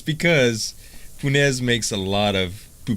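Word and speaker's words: punaise: this is French okay punez now I had to call my dad and ask him how to pronounce this because this is the Cajun word now I've heard it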